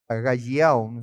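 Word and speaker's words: ἀγαλλιάω: Acá la palabra gozo es en griego es aga agalliau. Agayo, se pronuncia así.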